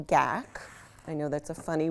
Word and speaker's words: GAC: more transparent so we add in something called gak I know that's a funny word it's spelled g-a-c this is gak 100 and the